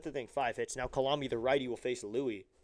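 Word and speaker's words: Coulombe: spelled like Columbus at first. C O U L O MB E Colombi.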